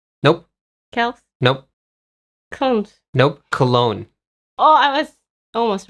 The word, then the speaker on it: Cologne: For example, the German city of Köln in German is Köln, but in English, it's Cologne. Yeah, exactly. Like 香水 is Cologne. That's the same pronunciation.